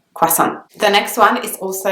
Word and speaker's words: croissant: world is a croissant I know that American English speakers pronounce it very differently but croissant is the way English people pronounce the word so it's not quite